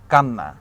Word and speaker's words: কান্না: অর্থাৎ পরিবর্তনটা কিরকম হচ্ছে, শেষের যেই আমার ধ্বনিটা থাকে সেই ধ্বনিটাকে আমি দ্বিত্ব অর্থাৎ দুইবার উচ্চারণ করতেছি।